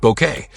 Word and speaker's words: Bucket: The pretentious yet oddly endearing woman who insisted her name be pronounced bouquet.